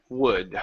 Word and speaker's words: would: And it works the same way with should, could, and would. All of them, in all three of these words, the L is silent. We don't pronounce that.